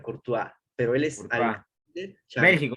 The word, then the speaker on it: Courtois: histórico casillas se escribe con portugués pero se pronuncia corto pero él estaba de training o tan corto